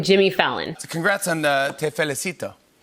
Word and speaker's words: te felicito: So congrats on Te Felicito. Well said. Well pronounced. Have a good accent. It was good? Te felicito. Perfect.